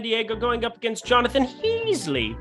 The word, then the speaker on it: Heasley: Yu Darvish going on the mound here for San Diego, going up against Jonathan Heasley. Rhymes with Ron Weasley, and one's a wizard, and the other one's Jonathan Heasley and sucks at pitching.